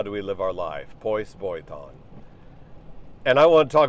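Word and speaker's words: πῶς βιωτέον: Pois boiton, that's how you say it in ancient Greek. How should we live? How do we live our life? Pois boiton.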